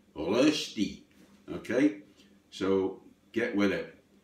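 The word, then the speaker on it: Rösti: Rosti, which is a Swiss potato dish, not Rosti, as I heard it pronounced. It's got 2 dots on the O, Rosti.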